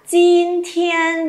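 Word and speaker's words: 今天: Nào lặp lại, jin thiên. Rồi âm này không bật hơi nhá.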